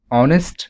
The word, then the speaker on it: honest: sentence starts with h when you pronounce honest the pronunciation of h actually remains silent that's why the sound